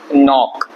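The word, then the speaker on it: knock: जो हमने खटखटाया इसको इंग्लिश में बोलते हैं नॉक बोलते हैं ये लिखते हैं के से नो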